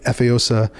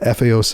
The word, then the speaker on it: Efeosa: They named me Efeosa Mabutimangbo. And you have to say it like that or it doesn't make sense. But Efeosa. Otherwise you're saying headdress.